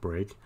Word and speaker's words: brk: function uh int break brk is pronounced break that just takes an